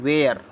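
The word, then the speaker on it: where: डब्लू ए आर ई डब्लू ए आर ई को पढ़ेंगे वेयर पी ए आरई पी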